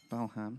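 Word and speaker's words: Balham: balaam haven't been to bellam very much belham silent h uh i'm aj wonder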